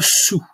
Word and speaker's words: saoul: Être saoul. We don't pronounce the L unless it is used as with the adjective, as a verb, saouler.